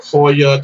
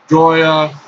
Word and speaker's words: Joya: I pronounce it Joya. I mean, some people pronounce it Joya. I mean, I understand that in Spanish, like the J's are sometimes silent or whatever, but I love Joya de Nicaragua so much that I like to pronounce it Joya de Nicaragua because it just sounds like joy, and Joya or Joya